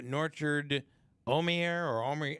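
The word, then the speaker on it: Norchad Omier: The status of Miami center Norchard Omier is, how do you say that? You're pronouncing it right.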